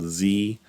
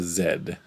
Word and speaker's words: Z: from the US and they have this mystical letter at the end of their alphabet called Z. But here in Canada, we have a zed. So, it's interesting. We we even had a store that had a club and it was called Club Zed and it was simply the letter zed.